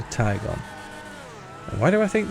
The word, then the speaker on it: Tigon: So, I've heard it called the Tigon, the Tjon, but I think it's neither. I think it's the Taigon.